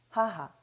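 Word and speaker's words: 母: 하하, 하하.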